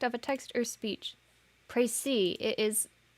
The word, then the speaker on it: précis: Précis. It is... Is it French? Yes, it's French. Okay, that's why the S is silent.